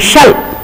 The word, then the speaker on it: shell: And I would like the learners to remember the difference between the pronunciation of shell and shell. S-H-E-L-L, shell. There is a sound in the middle.